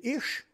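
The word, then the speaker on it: אִישׁ: Le mot homme qu'il y a là, c'est ish que ça se prononce.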